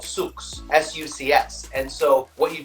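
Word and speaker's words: sucs: pond in english but in french it's called souks s-u-c-s and so what you do is you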